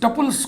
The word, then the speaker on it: tuple: Set of all n tuples, टपल्स को टुपल भी लोग पढ़ते हैं, जब आप उच्चारण जो मन में आए सो करिए। टपल पढ़िए, टुपल पढ़िए, टपल पढ़िए।